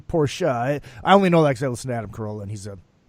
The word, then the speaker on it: Porsche: And the correct pronunciation is Porsche. Porsche. Yes, that Americans say Porsche. It's actually Porsche.